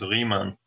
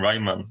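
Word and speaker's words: Riemann: was German and and ie in German is pronounced e so his name is rean which is not gonna stop you from saying Ryman because for some reason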